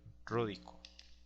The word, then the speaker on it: ródico: Pero como aquí se repetiría la i, entonces se elimina una de las dos y simplemente queda como hidróxido ródico con acento en la primera O.